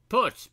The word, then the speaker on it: Porsche: Perch built this car to compete with the mighty Fred GT50.